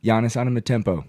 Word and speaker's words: Giannis Antetokounmpo: Giannis Antetokounmpo."